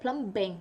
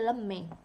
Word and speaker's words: plumbing: I don't think you said plumbing. You say plumbing. I think so.